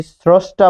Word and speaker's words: স্রষ্টা: কেন হলো দেখুন, দন্ত স এর সাথে রফলা রয়েছে, এটা হচ্ছে আদ্য স্বরে অ এর নিয়ম। আদ্য স্বরে অ, আদ্য স্বরে অ কি? যে শব্দের শুরুতে যদি স্বরে অ থাকে রফলা যুক্ত, তাহলে সেটি ও হবে, ফলে এই যে এখানে ও হলো, পেলেন স্রো। মূর্ধন্য স থাকার কারণে তালব্য স হলো স্রোস, যেহেতু থামলেন তাই হসন্ত, স্রোস।